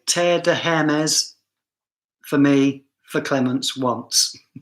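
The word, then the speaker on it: Hermès: We don't pronounce the H in France, but we do here. So this is an argument, right? So I'm not French, so I'm going to see a H and pronounce a H.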